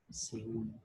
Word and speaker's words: Seúl: Seúl. Profe, ¿esa es una palabra aguda? Sí, porque la fuerza de voz está en la sílaba un, que es la última.